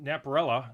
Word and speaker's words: Napierala: This is Curt Napierala.